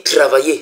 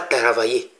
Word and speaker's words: travailler: On dit travailler, c'est pas taravailler. Ce n'est pas taravailler. Taravailler va s'écrire T-A-R-A. ça, c'est pas ça. C'est travailler. T-R-A.